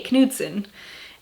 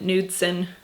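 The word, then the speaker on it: Knudson: that last name and we pronounced the K kuden and people here call it nudson and I'm always like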